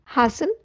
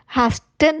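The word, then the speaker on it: hasten: Linger, विलंब करना, हासन या रश, जल्दी करना। हैस्टन नहीं है, हैसन है, इसमें टी साइलेंट है।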